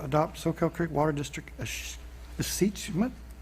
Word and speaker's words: escheatment: So we move on to item 6.5, adopt Soquel Creek Water District escheatment. Not tell us first how to pronounce that terrible word. It's achievement.